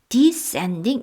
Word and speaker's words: descending: 원래 이 ascend, descend 모두 강세가 다 뒤에 있는데요. 이렇게 말을 하다 보니까 두 단어를 함께 쓰다 보니까 ascending, descending 이렇게 앞에 있는 것을 조금 강조해서 지금 발음을 하고 계십니다. 천사가 오르락 내리락 하고 있었습니다.